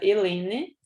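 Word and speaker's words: helenae: Com essa terminação AE, que a gente pronuncia apenas E, né? Então, ficaria Rosa Helene, tá?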